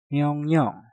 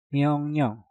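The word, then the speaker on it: 명령: Untuk contoh yang kedua ada myongnyong. Myong diakhiri dengan nyeng, setelah itu diikuti kata yang diawali dengan real. Maka suara real kita rubah menjadi suara nyen, menjadi myongnyong, myongnyong, myongnyong, myongnyong.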